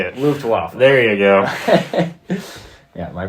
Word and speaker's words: Luftwaffe: Luftwaffe. There you go. Yeah, my pronunciation on German is not that great.